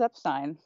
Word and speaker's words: Epstein: something reverential to Brian he says Epstein and I think that indicates that that's what he was called right and by 1967